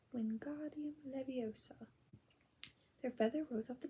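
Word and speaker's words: Wingardium Leviosa: having much more luck W Leos he shouted waving his long arms like a windmill you're saying it wrong Harry heard hery snaap it's when God leosa make the the gar nice and long you do it then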